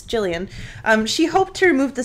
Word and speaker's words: Gillian: by making the film I'm gonna call her Jillian it could be Gilliam as a hard G I know a Gillian yeah soft G but I'm gonna assume it's Gillian she hoped to remove